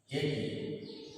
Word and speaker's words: একই: যেমন একই, তাহলে আমরা এর উচ্চারণ করব একই।